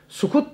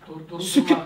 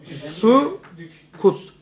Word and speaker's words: sukut: Sukut demek ne kadar? Sukut. Bir sessizlik demiyorsun. Sükut değil o. Sükut olsa ben telaffuz mu yapayım? Noktasız. Durak dedi. Durdurmak mı abi? Yok. Sukut.